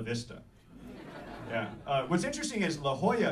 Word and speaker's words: La Jolla: What's interesting is La Jolla is pronounced with the ya sound rather than La Jolla or La Jolla or whatever.